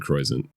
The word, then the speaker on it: Croisant: My dad said Croisant.